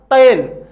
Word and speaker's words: तैल: वाला शब्द है दोस्तों, ये है तैल। उच्चारण कीजिएगा, इसको मेरे साथ उच्चारण कीजिएगा, तैल। तैल। अब आज हम तैल उच्चारण करते ही नहीं है, और वास्तव में हम इसके उच्चारण, इसको परिवर्तित करके हम कहते हैं तेल।